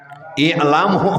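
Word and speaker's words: اعلموا: I'lamu. Ngahulang bacanya itu ilamu, alamu, ulamu nah gitu.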